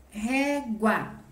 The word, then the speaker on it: régua: então ela é uma oxítona certo a palavra régua também é uma dissílaba então eu começo lá no final que